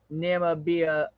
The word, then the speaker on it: Namibia: me too me too accent for Namibia on the second syllable okay yeah I'm I'm